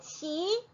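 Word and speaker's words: 辛奇: 파오 차이라고 예 불렀었는데 최근에 최근 몇 년 전에네 신치 신치라고네 변경이 되었습니다 어 매울 신자를 써서 우리나라 발음에 비슷하게네 이렇게 중국어 명칭이 변경이 되었죠네 김치 신치 신치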